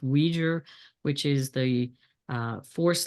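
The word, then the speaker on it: Uyghur: laws coming in um I'm not exactly sure how to pronounce this one but I think it's been pronounced weijer which is the uh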